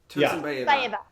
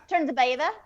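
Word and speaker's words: Tursynbayeva: Tursynbaeva. Tursynbaeva. Yeah. Mm-hmm. Like tzatziki.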